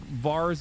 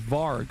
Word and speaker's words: Varg: Like Vars Vikernes comes to mind. Or not Var. No, what is his name? I'm saying it wrong. What the fuck? Is it Var? Is Varg, not Vars.